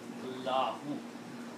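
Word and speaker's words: اللهُ: But when you say Allah, you don't say Allahu Akbar. You have to make the full pronouncing of the word Allahu. So remember, the actual word, the way it should be written, is Allahu.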